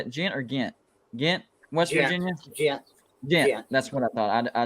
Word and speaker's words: Ghent: I'm a Notre Dame grad fan with family also in, is that Ghent or how do you pronounce that, Joey? Is that Ghent or Ghent? Ghent, West Virginia? Ghent.